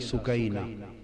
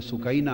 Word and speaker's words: سکینہ: اصل نام ان کا عربی وزن میں سکینہ ہے، عرف عام میں سکینہ چلتا ہے، مگر اصل لفظ سکینہ۔ سیدہ میں عرف عام کا لفظ استعمال کروں گا، تلفظ بتا دی، سکینہ، سیدہ سکینہ، سیدہ سکینہ۔ دھوپ میں چھوٹی معصوم